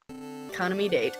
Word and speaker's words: Kaname Date: Because his last name is spelled like date, and my brain just wants to go, date. His name is Date. Kaname Date. Kaname Date, yes.